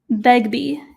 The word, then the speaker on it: Begbie: Julia Begbie is how you pronounce it.